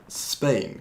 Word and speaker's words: Spain: Spain. 근데 한국말로는 스페인이라고 하잖아요. 음절 두 개 있는데 근데 영어로 할 때는 그냥 음절 하나로 발음하는 거예요. 그래서 Spain이라고 하는 거예요.